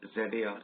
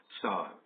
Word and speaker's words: Tsar: Sometimes we call ZAR, sometimes European books use the term T-S-A-R, Tsar. We pronounce it Tsar, T silent, right?